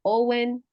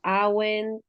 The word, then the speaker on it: Awen: es indudablemente el que le dicen Owen que le dicen awen que le dicen a oen no diferentes pronunciaciones pero son los tres